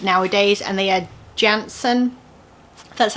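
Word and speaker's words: Jantzen: smaller than an 8 nowadays, and they are Jansen.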